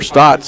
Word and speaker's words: Stotz: And Carl E. Stotz started or Stotts, I forgot which way you pronounce it. You're from Pennsylvania. You're supposed to know that history. That's Stouts there, Joe. Stouts, okay. Yeah.